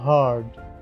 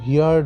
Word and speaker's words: heard: দেখো আমি উচ্চারণটা কি করছি, হার্ড, HEARD, হার্ড। কেউ কিন্তু হিয়ার্ড ভুল করে করবে না, উচ্চারণটা হবে হার্ড, হার্ড, ভালো করে মনে থাকে যেন।